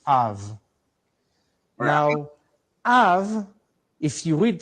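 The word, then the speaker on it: אב: So when you put those two together, it's numerical value 2, and you put those two together, you get a sound Av, pronounced Av.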